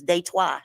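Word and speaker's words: Détroit: here in day twice so you said in French it's day twice you don't say Detroit you say they twice we have uh not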